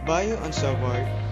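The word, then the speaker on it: Biot–Savart: buy-offs of our law yes it is pronounced in french bayou on salvador the two frenchmen who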